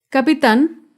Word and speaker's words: capitán: con la palabra capitán capitán es una palabra aguda se acentúa en la última sílaba y lleva tilde porque termina en la consonante n capitán otro ejemplo con la